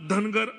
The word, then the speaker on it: धनगर: धनगढ़ जहाँ पे कई जगह प्रोनाउंसिएशन में गलतियां हो जाती है। महाराष्ट्र की बाहर की राज्यों में धनगढ़ बोला जाता है, यहाँ पे धनगर बोला जाता है।